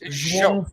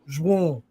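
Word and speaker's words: João: Just like this Joao Felix guy. No, it's Joao Felix. Joao. Yeah, that's what the announcer is. Joao. No, it's nasal. Joao.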